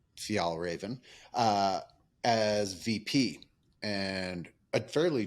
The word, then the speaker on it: Fjällräven: Fjällräven. How do you actually pronounce it? Yeah, Fjällräven. Fjällräven as VP, and a fairly generic VP, which